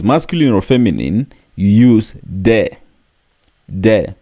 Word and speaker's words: des: or feminine you use de de don't pronounce the s De so it is